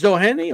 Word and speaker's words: Doheny: a way and and is it doany like how the hell you pronounce his name Doheny TJ Doheny it's doany okay so in way doany